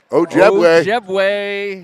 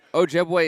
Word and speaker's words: Ojebwe: your family needs to hear this name pronounced properly. Ojebwe is not hard to pronounce. No, not in the least.